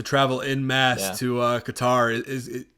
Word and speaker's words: Qatar: have some supporters go all the way to qatar or i heard someone say it the other day cutter yeah the cutter guitar however you want to pronounce it uh i'm interested i'm really interested